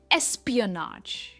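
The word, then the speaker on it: espionage: सबसे पहला है एसपी अ नाज ए पर इसका स्ट्रेस है एस्पियनाज एस्प्रियनाज एस्पियनाज का मतलब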